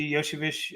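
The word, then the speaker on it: Iosivas: we'll call him yo I heard Yoshi Yoshi Vish okay so I know it's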